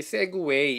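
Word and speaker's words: segue: 세그웨이, 뭐 발음이 세그웨이 이렇게 미국 애들 한다니까 우리도 한번 같이 세그웨이.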